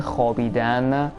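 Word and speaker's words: خوابیدن: We still write the v after the ch, but we don't actually pronounce it.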